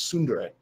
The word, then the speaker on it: Tsundere: I know what you said, but you continue to mispronounce it. It's Tsundere. Tsundere.